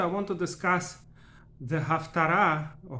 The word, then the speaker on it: Haftara: On this short video, I want to discuss the Haftara, or Haftora as Ashkenazim pronounce it, of our weekly reading, Vayechi, and a few words about Haftara in general.